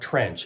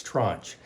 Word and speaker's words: tranche: work being in the tranches and uh we're going to talk more about what a tranch is and I really didn't mispronounce that it's not trench it's trunch but it's very important